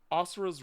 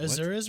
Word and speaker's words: Asura: I'm gonna pick Asura's Wrath. Okay. What? Azura's Wrath? Was that one? It's Asura. That's how it's pronounced, but it Yeah. looks like Azura's.